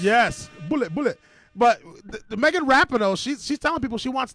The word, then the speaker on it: Rapinoe: Rapinoe, that's how you say her name? Megan Rapinoe.